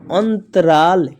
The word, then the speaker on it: अंतराल: त अंत र में आकार रा और ल अंतराल क्या पढ़ेंगे अंतराल वैसे ही अन द अंध यानी अन ड आना चाहिए।